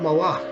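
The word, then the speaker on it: מלאך: Now, some of you who know a little bit of Hebrew might say, well, wait a minute, the word malach, that sounds like the word for king, melech.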